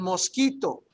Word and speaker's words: mosquito: El mosquito. El mosquito. Yeah. Easy, El right? mosquito. And here is a perfect example. I chose this one because this one has that K sound, right?